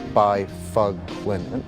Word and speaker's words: Byfuglien: And in case you didn't get that, it's Byfuglien. That's how you say it, right?